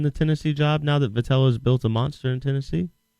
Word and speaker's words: Vitello: Is it Vitale or Vitello? Vitello. How do you say it? Vitello.